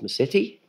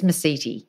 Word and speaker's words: Mesiti: hit record I just asked you how to pronounce your name and I thought it was my city mm-hmm you said there's a few ways that